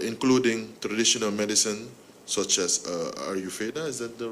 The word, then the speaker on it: Ayurveda: Health and pharmaceuticals, including traditional medicine, such as Ayurveda. Is that the right pronunciation? Yes, Ayurveda, yeah.